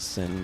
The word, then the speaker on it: Cynn: Cinders is what I think her name is short for. CYNN. I think they usually pronounce it Sin, but I don't remember.